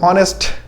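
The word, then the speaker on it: honest: और ऑनेस्ट का साउंड क्या है, ऑनेस्ट। एच साइलेंट है तो एच साइलेंट है तो ओ का साउंड आ गया, ओ का साउंड आ गया तो हमारा क्या होगा, एन होगा।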